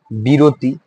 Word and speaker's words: বিরতি: এরপর দেখো জননী, সিমিলার হবে, জননী, বিরতি, বিরতি, বিরতি, বিরতি। এখানে দুটা রুলস দেখো কাজে লাগে। একটা হচ্ছে কি মধ্য অটা ও হয়, এবং আরেকটা হচ্ছে কি রস্বই থাকার কারণে অ কি হয় উচ্চারণে? ও হয়।